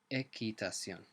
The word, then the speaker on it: equitación: Notice as well that the QU sound is not a qu sound like in English, it's a hard k sound. Equitación.